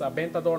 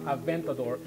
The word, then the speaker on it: Aventador: So again, you have a Spanish name of the car, the Aventador, and it's Aventador, not Aventador. The V is pronounced like a V in Spanish.